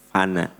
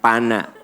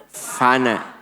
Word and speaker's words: fana: Pak Bu, dunia mah finally memang sifat dunia mah fana. Apa? Bukan pana, fana. Coba pronunciation-nya yang benar ya. Pelafadzan teh pana. Fana, dunia itu fana. F.